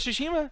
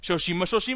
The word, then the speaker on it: Tsushima: Ghost of Tsushima. Shoshima.